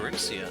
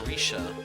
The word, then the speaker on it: Rixia: I wonder if something happened to Rixia, or Risha. I should probably pronounce her name correctly, even though I do like Rixia better.